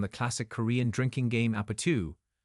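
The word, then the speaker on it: 아파트: It takes both its name and its post-chorus from the classic Korean drinking game Apatu, pronounced Apatu.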